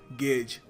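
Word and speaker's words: gauge: देखिए इसको मैंने देखा है कुछ लोग गाउज प्रोनाउंस करते हैं। बट सही तरीका इसको प्रोनाउंस करने का है गेज।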